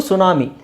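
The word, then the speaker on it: tsunami: ಟೀ ಇಲ್ದೇನು ಹೇಳಬಹುದು okay ಇದು ಸುನಾಮಿ ಸುನಾಮಿ ಸುನಾಮಿಯಲ್ಲಿ T silent ಆಗಿರುತ್ತೆ ಓಕೆ ಆಮೇಲೆ ಇಲ್ಲಿ ನೋಡಿ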